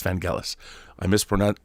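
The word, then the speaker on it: Vangelis: vanelis rest in peace it's not vanelis by the way it's vanelis I miss pron pronounce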